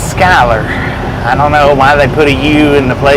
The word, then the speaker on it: Schuyler: it does it does it looks to me like it says Schuler by the looks of the word it looks like it would be pronounced Schuler but apparently it's Skyler well why they put